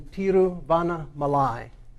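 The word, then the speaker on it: Tiruvannamalai: of arunachala is in tiruvanna malai which is the name of the city which i used to pronounce incorrectly so we think of the great american saint vanna white malay and there's sometimes a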